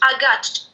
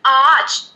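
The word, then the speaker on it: ağaç: هاديك الشرطة سموها يوموشاكي وكي تنقرا في الكلمة قرا كيما الغا وهي مخففة مثلا كيما هاد الكلمة اللي مكتوبة حداها آتش آتش هي شجرة دونك هنايا آتش شدرت دتر في الأ الجي هاديك ما نطقتهاش ما قلتش أغاتش ولا أغاتش لا الأ مددتها طولت فيها دونك قلت آتش فهمتوني؟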